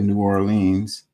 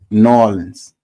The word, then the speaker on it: New Orleans: she had me in until she actually said New Orleans is exactly how people not from here think we sound saying it norleans that's the how they say it nor Orleans